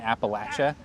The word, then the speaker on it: Appalachia: it's like southeast ohio um kind of in appalachia which i learned is the correct way to pronounce appalachia appalachia did it was it a high school